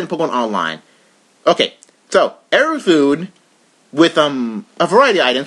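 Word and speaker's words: エルフーン: But this guy, whose Japanese name is pronounced Erufune, has a grass type, has a lot of really crippling non-attacking moves.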